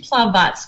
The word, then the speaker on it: Plavac: Well, it's actually Plavac, which is a little harder to pronounce. It's like a TS sound at the end.